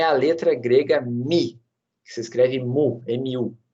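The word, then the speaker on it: μ: É a letra grega Mi, que se escreve mu, M-U, tá? Mas é a letra Mi.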